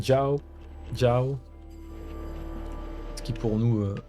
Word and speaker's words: Jiao: Ciao d'ailleurs. J'ai tendance à le prononcer ciao. Ciao. C'est avec le X à la place du J alors c'est Jiao.